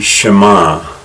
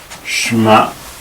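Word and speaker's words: שמע: Shema Israel, Yahweh Eloheinu, Yahweh Echad. By the way, it's usual in Hebrew for the last syllable to receive the emphasis. So we say Shema Israel, Yahweh Eloheinu, Yahweh Echad.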